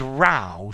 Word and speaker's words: row: no it's not dated i know it's pronounced differently from row i row my boat i sat in the second row good good good vg